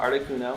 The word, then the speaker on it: Articuno: Like, pardon my pronunciation, but Articuno, like uno, 1, Zapdos, like 2, dos, and Moltres, like 3, Moltres. Anyway, just a little side